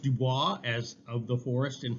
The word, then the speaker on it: Du Bois: Du Bois. Du Bois, okay, like the boys. Now, it should be pronounced Dubois, as of the forest in French, but he always pronounced it Du Bois.